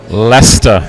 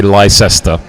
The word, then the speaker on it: Leicester: Hey, tell us how to pronounce that wondrous team of the year. Leicester.